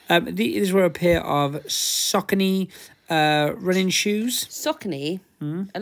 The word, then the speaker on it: Saucony: were a pair of Saucony uh running shoes Saucony a lot of people call Saucony but it is Saucony and it is pronounced literally like sock and knee yeah that's what that's